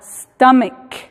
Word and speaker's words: stomach: La excepción a la regla número 2 es cuando la terminación CH se pronuncia como K. En ese caso, en lugar de agregar ES, simplemente agregamos S a la terminación. Como por ejemplo en la palabra stomach, estómago, ¿verdad?